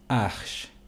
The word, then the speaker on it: h: his name ash h in french is pronounced as ash so i will repeat